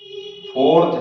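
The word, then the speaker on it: Pfund: बामर तीसरा है पाश्चन फोर्थ है ब्रैकेट और फिफ है फ इसमें प साइलेंट और सिक्स होता फेरी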